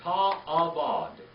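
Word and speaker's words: תַעֲבֹד: And then ta'avod.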